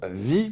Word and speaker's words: Vi: semaine dernière c'est que je disais le nom vie pour parler de vaille car je regarde en